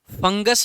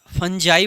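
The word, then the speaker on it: fungi: फंगस में फंजाई बोल देते हैं, या फंजी बोल देते हैं उसको, या फंगी भी बोल देते हैं, या फंगाई बोल देते हैं, कई तरीके से इसको प्रोनाउंस कर लेते हैं, जैसे आप चाहें कर सकते हैं।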